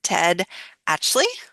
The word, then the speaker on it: Ted Atchley: one of the dialogue doctor coaches, and today I'm here with Ted Actley.